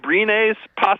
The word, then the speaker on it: Abrines: Alex Abrines a possibility? He's been okay. Is that how you say it? Yeah, Alex Abrines.